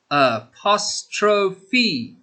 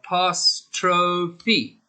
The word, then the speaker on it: apostrophe: that practice with teacher a pass trow fee a posttrophy it's four syllables so listen carefully uh past trophy excellent good practice boys